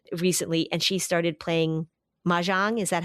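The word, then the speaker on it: mahjong: I was actually just talking to my cousin recently and she started playing ma jang.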